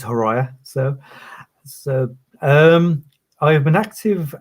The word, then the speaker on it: Horaia: A number of people cannot pronounce the surname, so it's Horaia.